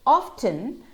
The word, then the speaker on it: often: Though often is a bit of an exception because it can be pronounced often with a silent T and also often with a silent T. Without the silent T, that is often, and with the silent T, it's often.